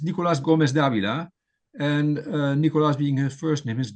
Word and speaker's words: Nicolás Gómez Dávila: Um well of course it's it's Nicolas Gomez Davila and Nicolas being his first name his given